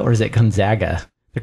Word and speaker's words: Gonzaga: Duke, Ohio State, Gonzaga, and Florida.